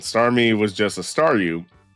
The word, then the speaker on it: Staryu: me was just a Staryu. I could never pronounce its name right. It always ended up sounding like saw you.